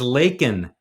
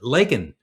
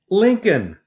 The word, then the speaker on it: Laken: people her name is Laken Riley like Lake the word lake with an N on the end of it Laken he referred to her of course as Lincoln like Abraham Lincoln Riley